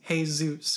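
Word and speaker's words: Jesús: her handwritten lyrics that the pronunciation is hey Zeus because she spelled it H a why s o OS anyways after unsuccessfully searching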